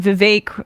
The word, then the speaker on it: Vivek: I guess Trump and Vivek rhymes with cake Ramaswamy have a bit of a bromance brewing.